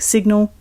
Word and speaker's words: sign: In sign, the S represents an unvoiced S, the I is a long I, and the G is inaudible.